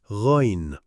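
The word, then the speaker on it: غين: Ghain, like G in Ghana.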